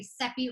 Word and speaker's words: Seppi: My name is Seppi, and I always say Seppi rhymes with Peppy.